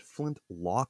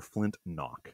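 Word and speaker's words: Flint-Knock: Is it flint lock or flint knock? Flint knock.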